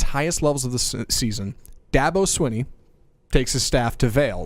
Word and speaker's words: Dabo Swinney: he seconds before this segment started how to pronounce this Dabo Davos Davos Sweeney Swinney that's fine that devil Sweeney Dabo Swinney all right every every okay every February when